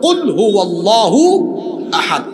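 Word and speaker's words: قل هو الله أحد: যেমন সূরা ইখলাস প্রথম আয়াত হলো কুলহু আল্লাহু আহাদ। এখানে কফ আছে। আপনি তো কফের উচ্চারণ কাফ পড়েন। তো কুলহু আল্লাহু আহাদ। সঠিক উচ্চারণে পড়লে অর্থ হয়।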